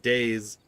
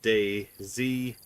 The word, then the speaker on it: DayZ: Western Z on Daisy I hear some people call it days apparently can throw that out there if you're if you pronounce it days like I don't know say days with an s in the chat if you pronounce it Day Z like spell it out day space z if you say Day Z put a con Adan flag cuz you're probably Canadian if you're saying that